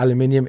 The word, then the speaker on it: aluminium: Like I said here, uni-body enclosure, all made of aluminium or aluminum, but aluminium is the correct way to say it. Come at me.